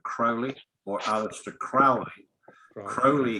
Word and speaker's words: Crowley: or alex to crowley crowley himself said it's crowley to rhyme with holi actually while you're talking